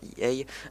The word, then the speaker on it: EA: disant que c'est voilà, que IA ça devient vraiment enfin EA pour le prononcer à l'anglaise, ça devient vraiment une grosse pompe à fric et tout.